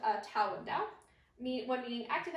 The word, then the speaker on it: Dao: Tao and Dao are the same thing, because remember the base word is pronounced Tao, and it's kind of up to you on how you want to interpret that.